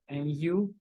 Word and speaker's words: nu: frequency is this is what we call the new it pronounced like Nu the new the frequency is Hertz it's talk